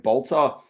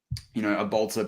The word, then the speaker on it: Bolter: And so this can sound pretty interesting, but like Bolter, and it's spelled ER, but you say it more with an A if you're using it for the slang.